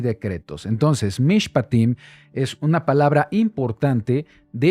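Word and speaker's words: מִשְׁפָּטִים: y la porción de la semana se llama mishpatim mishpatim se escribe de esta manera ahí lo tenemos en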